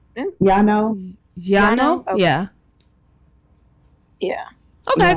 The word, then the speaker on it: Llano: Lano or Lano. I don't. How do you say that? LL. Mm-hmm. LLANO. Okay. But how do you say that in Spanish? Yano.